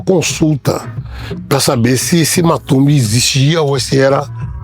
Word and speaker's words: Matumbi: Aí voltei, esse nome não me deixou em paz porque as pessoas continuavam me chamando de Matumbe. Matumb. Na idade, a pronúncia certa seria matumbi, mas as pessoas começaram a me chamar de matumbi.